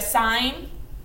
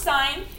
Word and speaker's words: sine: to use we have sine cosine and tangent so the sine of theta it's comparing our opposite side and a hypotenuse it's pronounced sine it's abbreviated si n but it is not pronounced sin and you say something